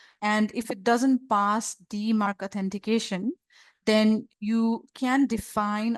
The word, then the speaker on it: DMARC: final component which is DeMark DM RC this is pronounced as DeMark stands for domain based